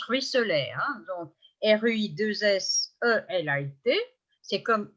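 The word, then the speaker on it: ruisselait: Terrible, ruisselet, donc je prononce ruisselet, hein, donc R-U-I-2-S-E-L-A-I-T, c'est comme il ruisselle avec deux L, E, comme tout à l'heure étincelle, hein, j'ai la même règle.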